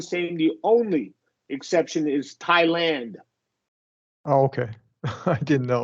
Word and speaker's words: Thailand: it's all the same The Only Exception is Thailand oh okay I didn't know okay that's the